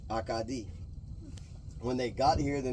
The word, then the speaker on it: Acadie: The word Cajun kind of started as where they came from in Nova Scotia, Acadia, pronounced in French, Acadie.